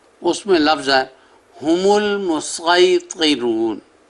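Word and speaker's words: المصيطرون: لفظ ہے ہم المسیطرون، صاد کے ساتھ اور اوپر سین، جس طرح پہلے الفاظ کا میں نے بیان کیا۔ تو یہاں بھی یہی ہے کہ آپ صاد کے تلفظ سے ادا کریں یا سین کے۔ اور آگے سپارہ نمبر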